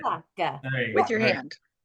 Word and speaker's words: Migliavacca: And so it is Migliavacca. That's how you say it. Migliavacca.